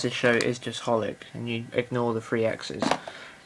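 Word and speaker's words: xxxHOLiC: be XXX holic but from my research apparently it's just holic that's probably wrong but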